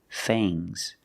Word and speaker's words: fangs: sharp teeth are called fangs use a long a plus the nasal sound and a soft fangs fangs and the S is